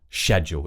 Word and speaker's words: schedule: And the same thing goes for this word, which has two common pronunciations. If you're going for more of an RP accent, just say schedule. If you're a perfectionist, you want to keep that RP, schedule.